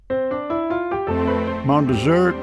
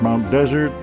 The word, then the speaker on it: Mount Desert: Mount Desert, Mount Desert, locals and visitors pronounce it both ways. Yet the name itself is French, coined by Samuel de Champlain when he led an exploration of the main coast in6004.